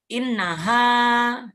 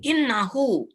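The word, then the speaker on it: إنها: sesungguhnya dia Dia perempuan harus di sini pakai Alif karena itu bacanya innaha Ya kalau ini innahu Oh ya teman-teman saya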